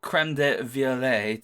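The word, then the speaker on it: crème de violette: But the creme de violet, to use the correct pronunciation, does go reasonably well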